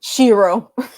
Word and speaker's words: Shiro: How would you pronounce it? Shihiro or Shiro? Shiro. Shiro. So yeah, so he's done